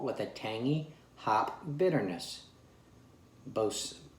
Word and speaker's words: Boatswain: a tangy hop bitterness bose boson yeah the w is silent and the ai is just kind of lost within there but uh what else